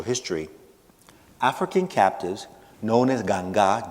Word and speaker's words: Ganga: African captives, known as Ganga, G-A-N-G with an accent on the A, in colonial Cuba did not constitute a uniform ethnic or religious grouping.